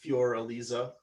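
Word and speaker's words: Für Elise: beethoven um fur elise or in german it's fjor elisa and he wrote this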